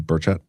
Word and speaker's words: Burchett: to talk to Tim Burchett about. John, just ask him how it's said before you start saying it. John, like Medvedsko said, think bullshit with T's instead of I's. Or instead of L's.